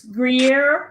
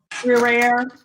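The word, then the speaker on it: Gruyère: I mixed in probably about a cup and a half of it's Gruyere. I can never say it right. Gruyere.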